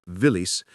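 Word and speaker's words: Виллис: Willies itself became a Russian word pronounced villis used as both a proper noun and a generic term for any small military vehicle.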